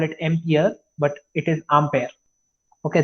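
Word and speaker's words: Ampère: Actual pronunciation is Ampere. We sometimes call it Ampere, but it is Ampere. Okay, the actual French pronunciation is Ampere.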